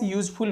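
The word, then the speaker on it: useful: तो यूजफुल का उच्चारण य से होगा, और य हमारा जो है कॉन्सोनेंट साउंड है, इसलिए हम यहाँ पर आर्टिकल ए का प्रयोग करेंगे।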